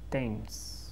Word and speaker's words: Thames: Now, it's a very interesting pronunciation here because the spelling is very different from how you pronounce the word. The spelling is T-H-A-M-E-S, right? T-H-A-M-E-S. Pero se pronuncia like Thames.